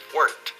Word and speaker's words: weren't: Pero no se pronuncia weren't. El pasado de verbo to be. I was, you were, they were. Negativo. They weren't. Weren't. Eran, no eran. Estaban, no estaban. They weren't. Una sola sílaba.